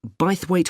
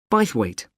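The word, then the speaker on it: Bythwaite: Well, admission is free and the show is being held in Bithweight Hall. Sorry, how do you spell that? B Y T H W A I T E. Bweight.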